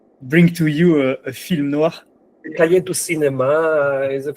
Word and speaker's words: noir: I think you can tell by Can how you give the correct pronunciation of noir?